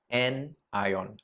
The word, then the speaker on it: anion: ion as well and that is known as a n ion all right so pronounce it with me again n ion how do i remember so you look at